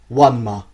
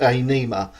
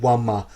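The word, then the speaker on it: Ænima: In at number 5, what is, for my money, the greatest prog metal album ever recorded, Wanma by Tool. Now, some of you may think it's pronounced Anima, but if you look at the way the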